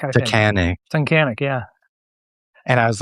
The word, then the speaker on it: Tunkhannock: I can't even pronounce the name of that town. Tuggahonic. Tunkhannock, I think. Tunkhannock.